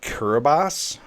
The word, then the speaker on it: Kiribati: This is about the little nation of Kiribati. That's how it's pronounced.